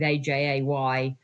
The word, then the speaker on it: Ajay: So I experimented with different spellings phonetically of AJ and ended up with AJAY, pronounced AJ, which I've stuck with ever since.